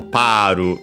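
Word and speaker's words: パール: the one from pearl, so Paru in Japanese, without the lengthening of the vowel. But of course, when using it as a word, you should keep it and yeah, accented on the first syllable is expected.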